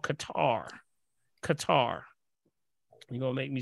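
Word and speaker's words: catarrh: sinus issues there's a there's a symptom called Qatar Qatar you're gonna make me spell it right yes yes I got it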